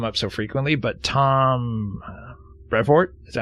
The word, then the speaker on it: Brevoort: So, recently, I don't know why it's come up so frequently, but Tom Brevoort, is that how you pronounce that dude's last name?